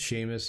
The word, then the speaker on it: Seamus: It's pronounced Seamus.